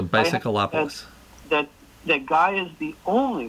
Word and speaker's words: Bicycleopolis: That's spelled the same as bicycle, except of instead of ending with an E, as bicycle does, just add opolis, as in metropolis. So Bicycleopolis.